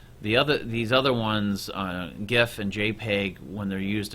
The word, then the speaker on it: GIF: we use we have gif or sometimes they were pronounced jiff we have JPEG there's